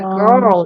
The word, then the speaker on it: girl: 거 바다 갈매기 그래서 걸 이렇게 하면 외국 사람들은 갈색인 줄 알아요 그러니까 girl 이게이 R 발음을 해 주셔야 돼 girl 정확한 발음네 근데 어쨌든 여기 아이